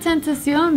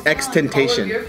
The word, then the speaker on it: XXXTentacion: Everyone pronounces it Tentacion though. It's Xxxtentation.